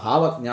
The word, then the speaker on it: ഭാവജ്ഞ: അറിയുന്ന വളായ ദേവി ഇതൊക്കെ ഭാവജ്ഞ ഭവജ്ഞ ഭാവജ്ഞ എന്നീ നാമത്തിനുണ്ട് ശരിക്കും ഭാവജ്ഞ എന്ന് തന്നെയാണ് അതിന്റെ ഉച്ചാരണം ഭാവജ്ഞ ഭാവജ്ഞ 841ാമത്തെ നാമം അപ്പോ